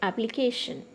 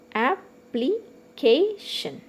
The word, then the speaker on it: application: In the same way, application. Okay, application. Okay, so K is stressed here.